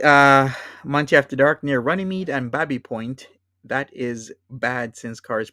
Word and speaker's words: Baby Point: it says this says Baby Point. And I mean, you could say Baby Point, but colloquially, if you live in the Runnymede area where you have Babby Point, you pronounce this as Babby Point.